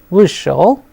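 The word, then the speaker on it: вышел: So, here since the stress is on ui, we pronounce it as vishal, vishla and vishli.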